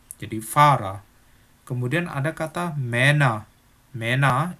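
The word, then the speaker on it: Fahrer: Tapi kalau di belakang, itu pelafalannya kayak A. Contohnya kata Farah, artinya supir.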